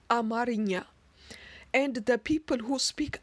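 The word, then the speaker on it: አማርኛ: In Amharic, Amharic is pronounced and written as Amarinya, and the people who speak Amharic are known as Amhara, not Amhara.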